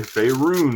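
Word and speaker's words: Faerûn: I say Faerun, it's more fun, it's more a deep U, roon.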